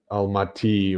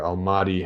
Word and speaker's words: Almaty: The top right, you see the Lake Balkhash, and Almaty or Almaty, however you want to pronounce it, is the former capital of Kazakhstan.